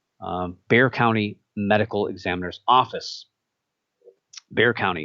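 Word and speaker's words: Bexar: county medical examiner's office bear county it's weird it's one of those names that's it's spelled b-e-x-a-r but it's bare it's like they have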